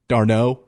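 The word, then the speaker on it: Darnold: his last name wrong it's weird man he's got d r n o l d but you leave out the D darno I don't like it I don't like it spell it with ow if it's like that but anyways Jets I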